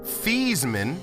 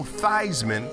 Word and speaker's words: Theismann: this show this man changed his name in college from Joe Theismann to Joe Theismann to make it rhyme with Heisman which is what he